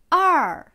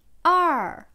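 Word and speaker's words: 二: Er. Er. C'est le quatrième ton qui descend.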